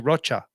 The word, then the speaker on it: Rocha: But if you're from where I grew up, it's actually Rocha, like the way you say it in Spanish. Spanish people, every time they introduce me, they say Rocha. Rocha. I was like, yes, that's how you say it. But I say Rocha because that's pretty much, it rhymes with mocha.